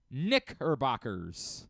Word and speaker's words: Knickerbockers: What I would say is it's imperative, if you're going to say the word Knickerbockers, to every syllable has to come out. Knickerbockers. You almost have to incorrectly pronounce it in order to make sure that you're being safe. Knickerbockers. Almost like you have to say her afterwards.